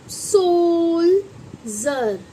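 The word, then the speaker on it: soldier: लेकिन अगर हम इसके बाद आई ई आर लगाएंगे तो आप इसको क्या पढ़ेंगे बच्चों? इसको पढ़ेंगे आप सो जर। आई ना जा की वॉइस डी की वॉइस यानी जा निकली। क्यों निकली? क्योंकि इसके बाद आई इ आर आ गया।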